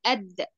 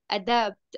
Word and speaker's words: adapt: reproduce and adapt like It's not animals add, don't say add, adapt, adapt. It's the first way for this, like a preposition, adapt like no, animals adapt. Try to read like this again. Pronounce it, pronounce adapt, not to adapt, adapt.